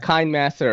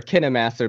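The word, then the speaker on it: KineMaster: here's the thing right I've been using a kind master or kinah master people pronounce it both ways yeah yet since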